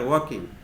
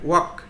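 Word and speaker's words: walking: কি করতেছে দে আর ওয়াকিং তারা হাঁটতেছে এখানে ওয়াক ডব্লিউ এল কে এল এর উচ্চারণটা কিন্তু হবে না ওয়াকিং বলতে হবে ঠিক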